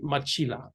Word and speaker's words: Matjila: His name is Jerry Machila. I think it's spelled Matjila.